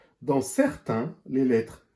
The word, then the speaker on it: certains: Le S est muet à la fin. Dans certains, les lettres A, I, N font le son 1 comme dans maintenant.